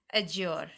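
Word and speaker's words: adjure: Next word है हमारे पास अज्योर। यहाँ पर डी जो है साइलेंट है, तो इसका जो प्रोनाउंसिएशन होगा वो होगा अज्योर।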